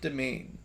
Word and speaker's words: demesne: Step forward to enter the Dark Domain. In case you're wondering, although that word may look unfamiliar, you might think it's Demesne or something. It is pronounced just domain, but it is one